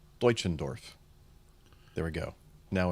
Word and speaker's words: Deutschendorf: So you think that's pronounced Deutschendorf, do you? Spell it again? Write it in the chat room for us. D-E-U. I'll write it in the chat. I think so, because Deutschland starts with D-E-U. Yeah, Deutschland, D-E-U.